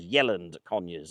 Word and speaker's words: Yealand Conyers: Rather wonderfully, I've just met an older couple from the village which I should have pronounced as Yeland Conurs.